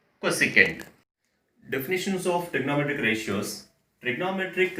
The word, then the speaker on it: cosecant: While we are writing, we will write as the short forms, but always the pronunciation should be in terms of sine, cos, tan, cot, secant and cosecant.